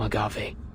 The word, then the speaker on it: agave: Take some medication distilled from agave. Agave. So that is how you pronounce it.